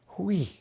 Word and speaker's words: Hui: h-u-i but it's pronounced we it's like you're supposed to put your H after your W not before it like real not we